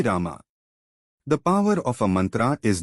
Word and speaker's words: mantra: So mantra Sometimes it's called mantra, but the proper pronunciation is mantra.